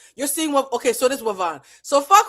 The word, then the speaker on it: Ivonne: You know how to pronounce Ivonne. It is Wavon.